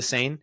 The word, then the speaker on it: Seine: It's the Seine. If it is pronounced safe for swimming, or if it is not, maybe next time we'll keep you updated.